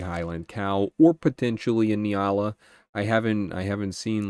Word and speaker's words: Nyala: them and for all for all of those of you who say I pronounce Nyala wrong uh ask a Google Okay Google's never wrong don't you know inyala my ass anyways I mean I'm